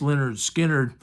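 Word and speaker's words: Lynyrd Skynyrd: And on a related note, the next one was Leonard Skinner, their first album, which is pronounced Leonard Skinner, and it's got Freebird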